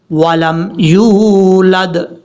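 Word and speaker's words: يولد: یا واو پیش یو، ولم یولد، لم یلد ولم یولد، اس طریقے سے پڑھنا ہے۔ اب نیچے والی لائن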